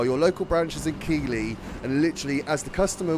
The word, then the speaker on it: Keighley: So, my granddad is from Keighley. And the fact I pronounced that correctly, you should actually know that that's actually where he's from. Because most Southerners would say Keighley, not Keighley.